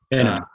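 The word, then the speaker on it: Behnam: I think the chairman of the CFTC, I don't know how to pronounce his last name, Rostin, is it Benham? Benham.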